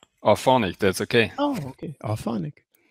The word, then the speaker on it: Auphonic: How do you pronounce it, by the way? It's not Auphonic for you, is it? It's Auphonic, that's okay.